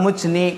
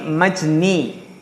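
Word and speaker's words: مجني: Kalau mujni, kalau ini kan apa namanya? Bacanya bukan mujni tapi majni.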